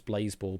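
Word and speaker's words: Blaseball: Blas ball. I I mean I've always pronounced it as Blaze Ball because it's basically a riff off the name Baseball.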